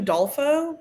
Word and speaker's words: Udolpho: Do we know how I to always pronounce it Udolpho, but Okay, great. I could be I'll wrong. say that then.